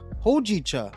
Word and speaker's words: hojicha: Oh, you say hojicha. Hojicha. Hojicha. That's how you say it.